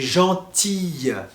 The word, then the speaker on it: gentil: Par exemple, gentil et gentille. Attention, gentil et gentille, c'est vraiment différent. On l'entend dans la prononciation.